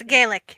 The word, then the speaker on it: Gaelic: Gaelic.